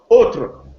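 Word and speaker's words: autres: Altres in Old French, it is nowadays pronounced autre, autre. A-U-T-R-E-S. You notice that the final S is no longer pronounced.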